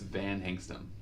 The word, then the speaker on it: Van Hengstum: It's if you just read it like it's spelled, you get it right every time. We want to put an R in it.